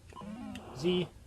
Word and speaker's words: Z: funny got the little Zed's of disease or cross his head zed zee well canada we pronounce the Zed jesus oh hit a